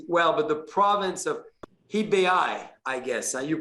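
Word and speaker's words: Hebei: don't pronounce it well but the province of hibeai i guess you pronounce it that way h-e-b-e-i yes see my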